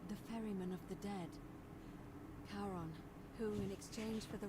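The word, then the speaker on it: Charon: Only your pronunciation is a little off. The name you heard wasn't Karen. It was C H A R O N. as in Kon, the fairyman of the dead. Kon, who in exchange for the right coin, helps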